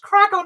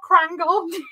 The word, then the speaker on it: Kragle: It's pronounced Kragle, not Krangle.